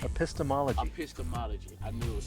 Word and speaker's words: epistemology: The epistanomy? Epistemology.